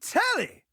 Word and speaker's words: Telly: I'm telly rhymes with jelly.